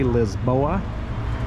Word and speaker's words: Lisboa: Uh we're going to take you through the neighborhood and we're going to explore uh all of Lisbon or as the locals say Lisboa.